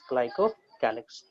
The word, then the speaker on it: glycocalyx: ठीक है, we will pronounce it as glycocalyx.